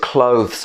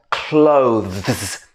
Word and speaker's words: clothes: this very much just remember the pronunciation of clothes okay let's try it one more time clothes hardest part is the transition at the end between and clothes or